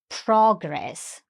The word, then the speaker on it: progress: So it's progress again with the stress on the first syllable.